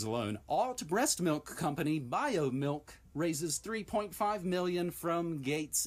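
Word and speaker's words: Biomilq: those three words alone alt breast milk company bio milk raises 3.5 million from gates investment firm beyond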